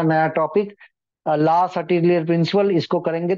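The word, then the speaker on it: Le Chatelier: ठीक है, तो ला सर्टेलियर प्रिंसिपल लिखेंगे। ला, इट is French pronunciation, La सर्टेलियर principal. Some people used to say it's La Chatelier, but it is La Chatelier principle, La Chatelier principle.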